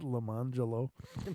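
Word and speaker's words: Lemonjello: I met a kid named Lemon Jello, but he pronounced it Lemangelo.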